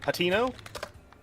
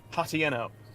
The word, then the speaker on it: Hateno: It's pronounced Hatino. My dumb, stupid brain pronounces it Hatieno.